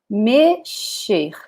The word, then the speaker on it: mexer: In Portuguese is mexer, mexer. So again, the X with the sound of sh, okay?